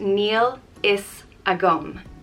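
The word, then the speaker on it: Níl a fhios agam: means i don't know it's pronounced neil is a gum nila sakum and the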